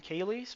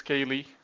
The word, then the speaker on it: Cayley: How do you say his name? Cayley's maybe? Cayley? I'm pretty sure it's Kaylee. Okay.